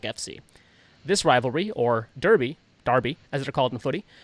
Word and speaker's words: Derby: don't say I said I'm happy to say Darby correctly the British way correct cuz that's the